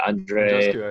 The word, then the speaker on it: Andreescu: Andreescu, I think, yeah.